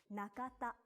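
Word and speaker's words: 中田: Another common surname in Japanese is Nakata. Na-ka-ta. The pronunciation of these 3 kana are the same as in Tanaka, just the order has changed.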